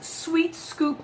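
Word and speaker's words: sWheat Scoop: We use Sweet Scoop litter, which is spelled Sweat Scoop. It's spelled SWHEAT, so it's like wheat.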